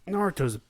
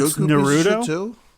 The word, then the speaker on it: Naruto: friends yeah i mean naruto's a bit of a piece of though sometimes it's actually it's not naruto it's pronounced naruto really yep i don't